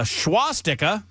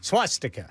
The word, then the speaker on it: swastika: A Beaver County family filed a lawsuit when they found a schwastika. Do I pronounce that word correctly, Ken? Swastika. Swast. There's no H there. There's no H. So swastika.